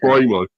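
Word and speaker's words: Mbeumo: Well, I call him we call him Brao, I think, because I think that's really because you don't pronounce the M apparently. So, it's Brao.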